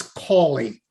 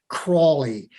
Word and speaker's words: Callie: disservice by the way it's callie not crawly there is no r in my name is my camera on